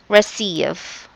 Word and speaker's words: receive: The word receive. There. Alright. Letter C here is pronounced as S, not C but S.